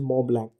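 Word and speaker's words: Mont Blanc: है, माउंट ब्लैंक को, basically spelled as मो ब्लैंक, ठीक है। तो माउंट ब्लैंक, ठीक है, आई am just using the simple pronunciation, not द मो ब्लैंक, ठीक है।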